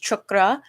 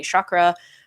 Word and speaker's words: chakra: uh root chakra video is i know it's pronounced chakra i am just very westernized and i don't